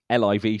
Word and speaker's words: LIV: and that is what we discovered how it is pronounced uh the livv standing for the Roman numerals 54 the number of holes